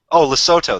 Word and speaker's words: Lesotho: And Lesotho, that's how you pronounce it.